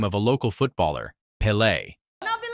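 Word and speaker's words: Pelé: Deco tries to join the rich boys' conversation and mentions the name of a local footballer, Pele. I'll be like Pele. But he mispronounces it, Pele.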